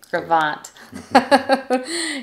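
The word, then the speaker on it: Gros Ventre: area yes and honestly you're gonna see the word gravant and it looks like gross adventure but don't say it like a noob say gravant okay and then lastly there's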